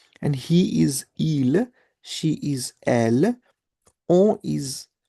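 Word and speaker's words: ils: So they in masculine is il, and they for feminine is elle. So there is an S, but we do not pronounce the S.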